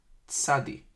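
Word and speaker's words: צדי: It's pronounced tsadi, ts, t-z, tsadi, ts.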